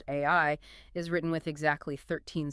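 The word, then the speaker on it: 愛: For example, in Japanese, the kanji for love, which is pronounced AI, is written with exactly 13 strokes, which is just a beautiful detail on its own.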